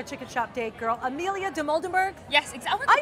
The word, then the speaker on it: Dimoldenberg: It's our chicken shop date girl, Amelia Dimoldenberg.